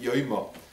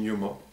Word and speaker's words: יומא: the aramaic word for literally the day some pronounce it yoma but we're going to use the word yuma the pronunciation yuma and yuma of course refers to v-day the